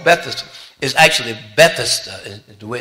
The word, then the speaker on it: Bethesda: the the pool was called bethesda is actually bethesda the way it's elaborated it's not bethesda how we often pronounce it but then that's not the important